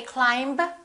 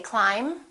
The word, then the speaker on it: climb: Let's start with the silent B. Bomb, climb. We don't say climb, we say climb.